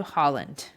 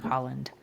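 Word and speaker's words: Haaland: by Joe Biden yeah that's spelled h a a l a n d right it doesn't sound exactly like it's I mean right I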